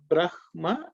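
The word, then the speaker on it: ब्रह्मा: What is written is the way it's pronounced. You don't have exceptions. Okay. If you go with that rule, Brahma is the right pronunciation, and that's what I stick to.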